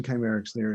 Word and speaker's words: Kcymaerxthaere: Did I pronounce that right? It's Kcymaerxthaere, and it means the treasured one.